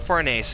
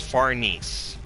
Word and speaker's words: Farnese: Or, and for Farnese, and it's not Farnese, I hate how the dub translated that, it's Farnese.